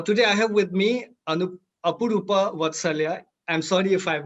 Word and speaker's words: Apurupa Vatsalya: Now, today I have with me Apurupa Vatsalya. I'm sorry if I have not pronounced your name correctly.